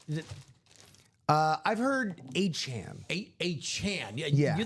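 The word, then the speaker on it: Achane: Is it uh I've heard a Chan. A A Chan. Yeah. You think it's a Chan? I have heard a Chan. Yes. A Chan, not Chain.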